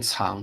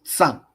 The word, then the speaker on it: 藏: 最后一题，藏，这个不念藏，这个念藏，多音字，藏，藏。